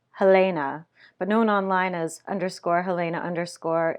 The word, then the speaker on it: Helena: Helena, pronounced Helena, but known online as _Helena_ in upside-down reverse text, carefully applied liquid liner to her eternally greasy eyelids.